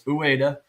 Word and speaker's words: Ueda: A lot of people don't know how to pronounce his name, but it's Ueda.